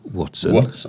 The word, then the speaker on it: Ватсон: Как ты его произносишь? Как, по-вашему, Ватсона зовут? Ватсон.